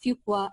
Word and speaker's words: Fuqua: knowing how to cut how to pronounce the name to be schooled properly like not saying Fuqua but fuqua okay and also like